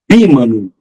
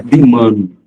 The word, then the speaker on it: bímano: Bímano, não é bimano.